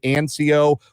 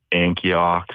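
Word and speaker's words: Ancoux: for you will uh a n c Au ux is how you spell your last name it is pronounced anco what is the worst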